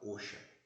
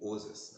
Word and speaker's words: OSHA: Toxicidade igual ou superior ao da OSHA, ou OSAS, né? Você pode pronunciar das duas formas.